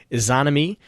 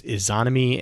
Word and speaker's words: Izanami: To jump to Izanami, actually Deej and Bife actually talked about this, I believe, earlier this week. They kind of mentioned this. Izanami is a part of a couple. Is Izanami and Izanagi, I think is how you pronounce that.